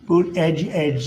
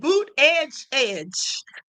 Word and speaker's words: Buttigieg: Boot edge edge, they say is the best way.